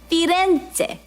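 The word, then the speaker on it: Firenze: You want to say it like Italian, you got to learn how the locals say it. Uh, not the way the English people change the name, the way they like to hear. Fente, Venetsia, Roma.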